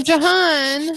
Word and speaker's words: Johan: Oh, Jahan. Oh, Johan. Oh, sorry. You put Joanne, but I bet you. Is it Joanne or Jahan? He said it right. It's Johan.